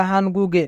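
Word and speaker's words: 한국에: এখানে বাচ্চিমের পরে ইয়ং থাকার কারণে বাচ্চিমের স্থানে ইয়ং যাবে, তাই উচ্চারণ হবে হানগুগে।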